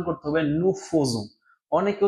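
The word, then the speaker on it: nous faisons: তাহলে আতংসিও আমাদের এটা উচ্চারণ করতে হবে নু ফোজু।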